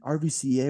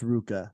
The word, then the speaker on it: RVCA: oh sick Billabong and rbca we're gonna audit them and then someone's like it's uh it's Ruka like you may you gotta make sure you get that right it's Ruka and I